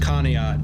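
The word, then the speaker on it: Conneaut: in northeastern Ohio uh in a town called conat it's spelled funny but it's pronounced conat t588 gaming is here all right bro says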